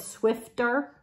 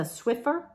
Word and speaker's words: Swiffer: I think I said Swifter, and it's a Swiffer.